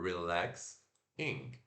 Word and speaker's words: relaxing: E se pronuncia o R puxado e o I curto. R-R-I, re. Apóstrofo indicando que essa é a sílaba tônica, L, né, que a gente coloca a língua lá no céu da boca, L. O AE que a gente acabou de aprender, A.